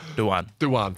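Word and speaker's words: Dujuan: There was a soft J in there. It's hard. Duyan.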